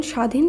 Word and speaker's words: স্বাধীন: ব ফলা থাকছে না যেমন স্বাধীন শব্দে প্রথম বর্ণে যে ব যুক্ত রয়েছে দন্তস এর সঙ্গে শব্দটি যখন আমরা শুদ্ধভাবে উচ্চারণ করব সেখানে কিন্তু আর ব ফলা থাকছে না ব ফলা লুপ্ত হচ্ছে